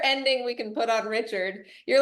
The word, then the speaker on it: Richard: off can I say thank you for saying my name correctly everyone is like Richards and they add like seven s's at the end sometimes people say Richard sin I'm like oh did we just add a whole extra ending